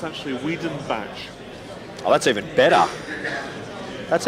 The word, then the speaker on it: Wiedenbach: It's actually Wiedenbach. Oh, that's even better. That's even better. Yeah, it's an N, not an R. So instead of Werderbach, It's Wiedenbach. It's Wiedenbach. Wiedenbach.